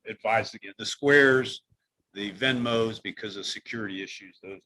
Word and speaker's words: Venmo: the other piece you want to look at is also Vimo and or am I saying it right? Venmo, Venmo.